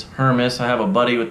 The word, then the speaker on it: Hermes: pronounce that then correctly it's not hermès it's not hermes it's her miss i have a buddy